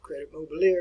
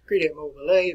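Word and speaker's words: Crédit Mobilier: as the crete mobile you probably would pronounce it credit mobilier we won't pronounce it that way credit mobile a but it involved the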